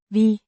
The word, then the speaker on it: vi: Vi kan tænke på firkantede dele, men det er ikke tilfældet her. Vi means we, pronounced vi, similar to the v in very, but slightly shorter.